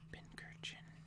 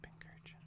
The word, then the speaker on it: Pincurchin: Pincurchin. Pincurchin. Yeah, Pincurchin probably. Because it's like an urchin, but a pincushion.